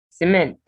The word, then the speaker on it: cement: Cement. Cement. Second syllable stressed.